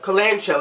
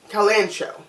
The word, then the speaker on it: kalanchoe: makes me say kalanchoe so I guess the H is silent so because it's either Kellan show only kalanchoe Colin Cowie or coal and coal kalanchoe E or : co